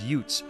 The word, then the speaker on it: youths: in the case, but instead of pronouncing the word youths in the usual way, Joe Pesci said it as yutes with a thick New Jersey accent.